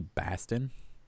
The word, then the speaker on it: Boston: yeah we're in Bastin they say Basten that's how they say it right Basten it's like it's almost pronounced with like an a like car keys and khakis sound exactly the same but it's I'm sure